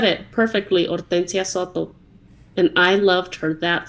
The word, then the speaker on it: Hortensia: a long pause and she said it perfectly Oria and I loved her that second awesome and